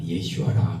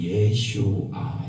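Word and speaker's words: ישוע: 예수는 히브리어로 예슈아라 그러는데 구원자 이 뜻이에요. 구원자. 그래서 구약 성경에는 구원할 때 예슈아 이 뜻이에요. 영어로는 이제 지저스에서 우리 한국식 발음으로 이제 예수 이러는 거지만 실제는 히브리어는 예슈아 이러죠.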